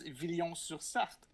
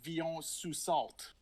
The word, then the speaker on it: Villon-sur-Sarthe: And her city is Villon-sur-Sarthe, et non, what they say, Villon-sous-Salt.